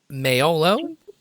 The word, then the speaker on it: Maiolo: Your book has your middle name, so I was going to introduce you as Maiolo.